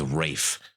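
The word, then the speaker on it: Raffe: His name's Rafe. That's gonna startle Levi in 4 years. Dude, honestly. And that's spelled R-A-F-F-E, by the way.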